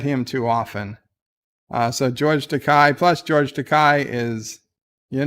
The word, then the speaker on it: Takei: richards is very prey takai rhymes with okay to k to k george takei excuse me excuse me